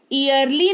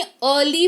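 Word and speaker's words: early: किसी भी शब्द में ई के तुरंत बाद अगर आपको ए आर दिख जाए तो इन दैट केस उस पर्टिकुलर वर्ड में इ जो है वो साइलेंट हो जाएगा। जैसे इसको इयरली नहीं अर्ली पढ़ेंगे।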